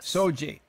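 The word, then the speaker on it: SOGI: orientation and gender identity it's called s-o-g-i there a pronunciation yes soji it means sexual orientation and gender identity and uh protected class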